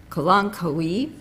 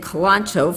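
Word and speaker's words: Kalanchoe: several people we learned the correct way to say a flower which is called a colon Kauai kalankaui I've been saying kalancho for I don't know how many years but it's a colon koi a beautiful flower that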